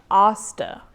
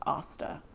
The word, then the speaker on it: Asta: sorry about that uh osta not like aang it's kind of like what m night shyamalan did with ong it's asta um so they were